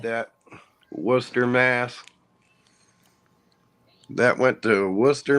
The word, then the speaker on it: Worcester: wow I love like that Worcester Mass that went to Worcester Massachusetts okay is